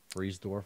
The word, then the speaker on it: Friedersdorf: named connor friedersdorf um freeze dwarf right is that how you pronounce it um no i think no you're right you're right friedersdorf yeah i mean it's